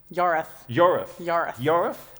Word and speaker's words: Yorwarth: Yorath. It's spelt with a W and a whole bunch of other letters, but it's actually pronounced Yorath.